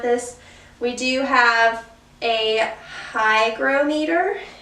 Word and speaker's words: hygrometer: we do have a hygrometer. I keep saying it wrong. It's a hygrometer, and also has a thermometer on it.